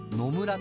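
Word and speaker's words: 濃紫: がこちらの野村紅葉濃い紫と書いて野村と読むもみじの木で毎年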